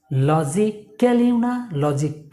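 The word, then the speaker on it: logically: Just এই যে আমি যে সিম্বলগুলো দেখিয়েছিলাম, আইপিএস সিম্বল, KLI, জাস্ট উচ্চারণ করবেন ক্লি, সবগুলো ওয়ার্ড। লজিক্যালি দেখুন সবগুলো ওয়ার্ড কিন্তু KLI ক্লি হবে, ক্লি, নট ক্যালি বা কাল্লি।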